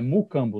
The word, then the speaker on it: Mucambo: Ele é sócio fundador da Mucambo, pronunciei certo, né? Mucambo, né?